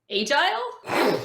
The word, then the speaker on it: agile: it was a box agile i pronounce it like a british person mina kim's pronounces full